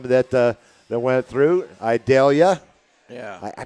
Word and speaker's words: Idalia: uh that went through idalia yeah I pronounced that right I'll tell you I always think of the onion Vidalia so I went with I dare you and now and it